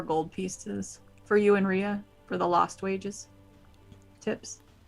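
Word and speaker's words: Reja: other girl's name was ria maria it's r e j a but it's pronounced rhea i'll walk over and give her four gold pieces for you and ria for the lost wages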